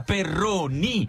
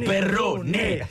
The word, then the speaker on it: Perrone: citare un amico comune Andrea Perroni no Perrone Perroni ogni volta ci sono Perroni e tutti si sbagliano Perché fai no col ditino Patrizio Oddio io mi ricordo perfettamente che è Perrone un quello è un